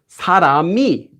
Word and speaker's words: 사람이: So when we pronounce this word, it doesn't become 사람이, it's 사람이, 사람이. This will be pronounced exactly the same as saying 사람이.